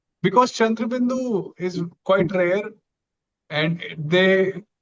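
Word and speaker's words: chandrabindu: So so like Chundraindu. Yeah. Yeah. So if it would be like like we say it's it's fully nasal sound. So it would be like chand chand.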